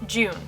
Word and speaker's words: Jun: me in the comments that her name is pronounced june so that's what i'm gonna go with don't